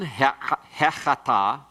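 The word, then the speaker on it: הֶחָטָא: The hay interrogative is attached inseparably to a word beginning with a guttural and a comments by means of a segol. Chata, the word for sin. Is it sin? Hechata.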